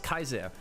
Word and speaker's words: Caesar: No, so it's not because in Latin Caesar was Kaiser.